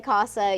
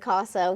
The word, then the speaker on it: CASA: And we say CASA, you said CASA. We hear all kinds of pronunciations, and they're all right.